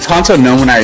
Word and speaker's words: Tanto Nomini: Yeah, you always had that Italian twist on it. Tanto, live radio, like the Italian FM radio station.